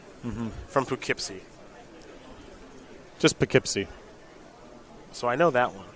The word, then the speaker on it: Poughkeepsie: mm-hmm from Poughkeepsie just pick hypsi so I know that one don't don't pronounce it like a tourist just pick it see what do you mean